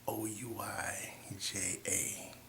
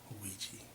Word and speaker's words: Ouija: It's spelled O UI J A but it's pronounced ouiji.